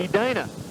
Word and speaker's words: Edina: How do you pronounce that town in Minnesota? Edina.